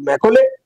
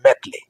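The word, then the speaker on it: Macaulay: Lord ম্যাকলে Lord ম্যাকলে ইংরেজি উচ্চারণ করলে হয় লর্ড ম্যাকলে বাংলায় আমরা বলি থাকে লর্ড ম্যাটলে তিনি এই ভারতীয় আইন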